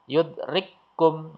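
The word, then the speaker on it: يدرككم: Maka cara bacanya yudrikum. Nah, kaf yang sukun ini tidak ada, hilang ya, dihilangkan. Ini ra bertemu dengan ra, wadhkur rabbaka, wadhkur rabbaka.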